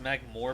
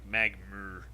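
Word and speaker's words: Magmoor: Also, so I know it's pronounced Magmore, but for some reason the way it's spelled makes it more like Magmur.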